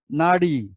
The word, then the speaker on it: নাড়ি: নারী হচ্ছে একটি মহিলা, তাহলে আমরা অনেক সময় নাড়ি না বলে নারী বলে ফেলি, সেজন্য এটা উচ্চারণ ভুল হচ্ছে, নাড়ি আর নারী।